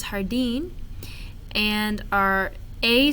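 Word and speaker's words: jardín: is some pronunciation errors remember that js are pronounced like h's so this is hardine and our a sounds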